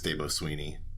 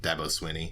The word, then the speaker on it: Dabo Swinney: his coach who's known to say ridiculous things des Beaux Sweeney debo Sweeney Dabo Swinney mm-hmm that's high praise that is high praise